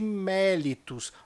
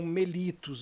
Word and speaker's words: mellitus: insulina Nossa Amamos de diabetes mellitus alguns também falam mellitus você pode aí encontrar das duas maneiras mas o fato é